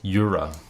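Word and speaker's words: Jura: that I really yeah yura is spel is pronounced with a Y sound because it comes from Switzerland so in German you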